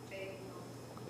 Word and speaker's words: Baiting House: Batting House? Is that how you pronounce that? Batting House or Baiting House. Baiting House with a hard A.